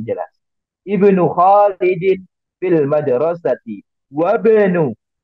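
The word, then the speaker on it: وَابْنُ: Wabnu. Cara membacanya disambungkan. Jadi hamzahnya tidak terbaca dengan jelas. Atau bahkan tidak terbaca sama sekali.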